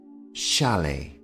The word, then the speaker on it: chalet: is called a chalet the T here at the end of the word is silent shalet and because they are